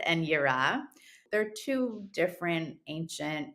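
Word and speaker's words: יראה: about two concepts um I'm hoping that I pronounce it right so it's pushard and also Europe yeah um yeah no one no one can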